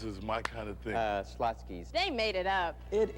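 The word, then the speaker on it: Schlotzsky's: First, to take a name which most people can't pronounce. Slotsky's is one of the best sandwiches that's ever been created. It's a pretty weird name, though. I say Slotsky's.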